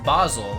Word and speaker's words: Basel: thanks for the update used to pronounce it like the plant same but it's basle apparently radio was helpful